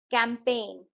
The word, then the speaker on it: campaign: कैंपेन, इसमें जो है जी साइलेंट है.